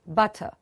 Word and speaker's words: butter: now onwards, you'll say butter. Butter. And please remember, R in the end is also silent, which of course we've covered in the later sessions.